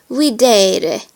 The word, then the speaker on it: videre: E is pronounced like the E in the English word they. A Latin word that has this vowel is videre, which means to see.